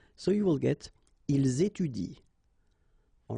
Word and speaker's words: étudient: So you will get ils étudient, all right? Ils étudient. You don't pronounce that.